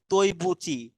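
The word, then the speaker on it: 对不起: যে ইংলিশে লেখা আছে তৈবুচি। তার মানে এখানে যদি আমি এই বিষয়টাতে পরে আসবো, সেটা হলো আপনার যে ডিইউআই, দুই হয়ে গেল না? কিন্তু বাট এটা উচ্চারণ হবে তৈ, ডি তে ত উচ্চারণ হয়।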